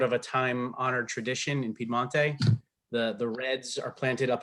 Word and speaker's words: Piemonte: wine for a couple hundred years now in Piemonte.